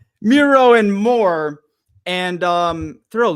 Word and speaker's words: Miro: campaign one password segment Meo and I think I said it wrong that time didn't I I did okay Miro and more and um